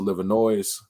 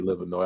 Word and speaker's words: Livernois: Some people pronounce it Livernois, but it actually should be Livernois. I don't know. I'm just bougie like that. But anyways, it's Livernois. I is silent, just like Illinois.